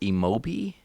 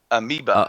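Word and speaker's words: amiibo: I'm gonna pronounce this wrong. What is it? Emobi? Amoeba. Amoeba.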